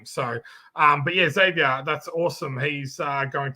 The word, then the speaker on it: Xavier: if you're like um if the name is j-o-s-e it's pronounced jose oh okay here we